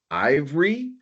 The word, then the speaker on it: Aivre: Um, I need to know how we're going to pronounce the name of your company. I've been saying Ivory, but is that it?